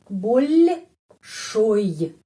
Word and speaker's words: большой: Tapi O di sini pengucapannya A, большой.